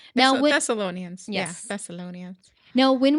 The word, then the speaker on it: Thessalonians: Thessalonians. Thessalonians. Thessalonians.